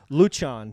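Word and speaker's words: Lucian: wrong and and they they would tell you this is the Romanian way I said I don't care how you pronounce it but they would teach you well this is the Romanian way like luchan for like it was l u c i a an I was said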